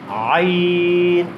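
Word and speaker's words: عين: আইন আমি কিভাবে উচ্চারণ করছি হরফটি? আমি গলার ঠিক ওই মাঝখানটা চাপ দিচ্ছি। আমি নিজে নিজে গলার মধ্যে কি দিচ্ছি? চাপ দিচ্ছি।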